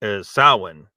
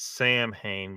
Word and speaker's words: Samhain: solstice, as well as Samhain, which is I know it's for those that aren't familiar with that word. It's spelled as if it's Samhain, but it's pronounced Samhain.